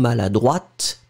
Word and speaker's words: maladroite: pronounce it slightly differently because maladroit, masculine, final T not pronounced. And then feminine form, maladroite, t, you will pronounce it. D'accord? So maladroit, masculine, maladroite, feminine form.